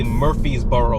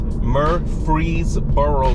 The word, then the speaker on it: Murfreesboro: I always say that name wrong, because I always want to say Murfreesboro, but it's not Murfreesboro. It's Murfreesboro, Tennessee. Murfreesboro, Tennessee.